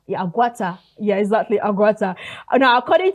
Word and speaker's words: Aguata: Is it Aguata? Yeah, Aguata.